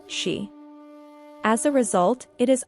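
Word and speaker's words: 四: In Japanese culture, the number 4, or shi, is considered unlucky due to its pronunciation, which is similar to the word for death, shi.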